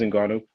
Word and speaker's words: Ngannou: You pronounce his name correctly. It is Ngannou.